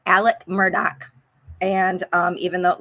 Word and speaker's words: Murdaugh: murdock cakes and um it's spelled like murdah but if you're from the low country it's murdoch and it's alec it's kind